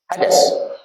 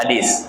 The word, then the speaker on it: hadis: Nah, riwayat daripada hadas. Nah, soalnya di sini nggak ada iya-nya. Jadi kalau nggak ada iya-nya bacanya hadas, itu salah ya. Riwayat daripada hadis, kan nggak ada huruf ya-nya sebelum sin kan.